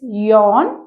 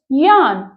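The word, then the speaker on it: yawn: fifth word is अ हाउ to pronounce it इट्स यन या इट्स यान सो इट्स यान to open your mouth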